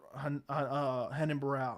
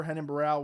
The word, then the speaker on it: Renan Barão: And Uriah Faber, Henan Barral. I mispronounced his name wrong. I almost said Renato Moicano. Uriah Faber, Renan Barão was not that exciting either.